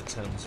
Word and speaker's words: Thames: With the Thames River. That's how it's pronounced.